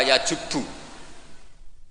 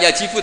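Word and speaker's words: يجبّ: Itu bacanya bukan yajibu tapi apa? Yajubu ayaktau.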